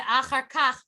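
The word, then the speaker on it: אחר כך: Veh achar kach poneh Poneh yamina.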